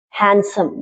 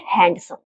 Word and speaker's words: handsome: There are some words in which D is silent, but there is no fixed rule for them, like sandwich, not sandwich, Wednesday, not Wednesday, handsome, not handsome.